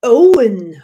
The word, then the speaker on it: Owen: Hund zu rufen der Owen heißt also oh we en Owen englisch ausgesprochen Katastrophe und alle Hunde